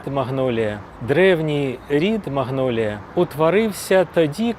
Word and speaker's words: магнолія: І спочатку її так і вимовляли: Маньолія. Але французьку люди не враховують. Звикли до англійської і тому поступово почали називати не маньолія, а магнолія.